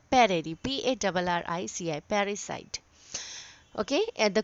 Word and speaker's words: parricide: Okay, what do we call parry, PARRICI, parricide. Okay, and the correct pronunciation is parricide.